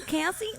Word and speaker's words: Caissie: Caissie, in case, I don't know.